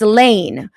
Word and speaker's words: Lahn: Gar Hilton lawn is pronounced Lane.